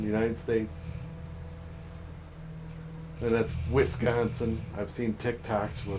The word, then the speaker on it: Wisconsin: a c an wiscansin no it's not wiscansin you freaking morons only somebody who doesn't live here would pronounce it like that I've never I've lived